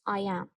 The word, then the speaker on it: iamb: The noun is I am. An iamb has two syllables.